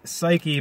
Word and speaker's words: psyche: maiden from Greek mythology psy cke the silent p why the silent P